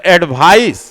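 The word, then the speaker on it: advice: सी से होता है तो स उसका उच्चारण होता है, और एसी से होता है तो ज उसका उच्चारण होता है। तो एडवाइस नाउन के रूप में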